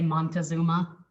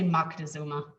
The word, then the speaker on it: Moctezuma: is going to say montezuma if your teacher is my age or younger than me they're gonna say moctezuma okay so back to